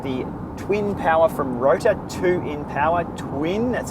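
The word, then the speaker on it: 2INpower: Okay, this week DCRainmaker put out his in-depth review of the twin power from Rota, 2 in power twin. That's how it's pronounced.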